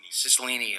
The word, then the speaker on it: Cicilline: Did I pronounce that right? Cicilline, okay.